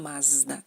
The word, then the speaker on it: Mazda: La letra Z da el sonido Z como la Z, por ejemplo, en Zinedine, Zidane, y Mazda, ¿no? En su pronunciación original son Zinedine, Zidane, Mazda, Z.